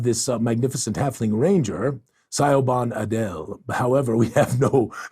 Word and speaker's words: Siobhan: sorry we're gonna just go back it is pronounced hold on where did Pam's comment go Siobhan Siobhan it's a it's a s z kind of